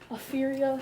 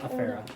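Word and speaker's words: Afeera: Afuria? Afera.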